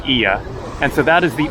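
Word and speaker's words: Oia: Although they spell it O-I-A, I don't know why they do it, but it's pronounced Ia.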